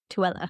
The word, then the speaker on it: Tooele: Looks like Old Tooele. Tooele. It's like Cruella. Tooele. But Tooele.